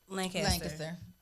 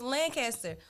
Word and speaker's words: Lancaster: No, when I was in Fort Worth, it was Lancaster. When I moved to Dallas, it was Lancaster.